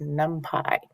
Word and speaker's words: NumPy: And we're here today looking at NumPy. Yes, that's how it's pronounced, NumPy.